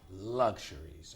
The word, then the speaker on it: luxuries: serious lack series perfect luxuries okay and again associated luck shuri's look it's two sounds in the end look luxuries did this table how